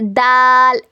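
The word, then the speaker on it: د: उसके बाद देखिए उसके बाद आता है दाल दाल दाल दाल।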